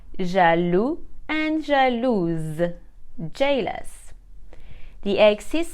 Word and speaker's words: jaloux: we will replace the X with s e jalu Angelus jealous the egg is silent for the masculine because it is a